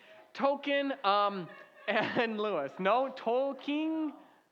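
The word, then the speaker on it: Tolkien: JR Tolken. Tolken. Like uh what you get at Chuck-e-Cheese, right? Token. Tolken.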